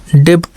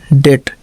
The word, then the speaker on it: debt: DEBT डेब्ट नहीं बल्कि डेट, डेट का मतलब कर्ज, ओके।